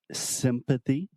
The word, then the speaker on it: sympathy: absolutely so we have sympathy and something really important in both of these words is to think about closing your mouth with the m so we have SIM and M try to